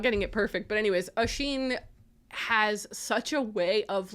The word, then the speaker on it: Oisín: It just felt like Oisín, who I learned how to pronounce the name correctly because it's an Irish